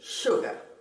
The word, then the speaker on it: sugar: En algunas, pero pocas ocasiones, se puede escribir con una S, como shore y sugar.